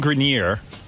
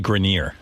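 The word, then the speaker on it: Grenier: excited from Entourage Adrien gineer and Kevin Connelly it's actually grineer Adrien grineer okay yeah yeah that's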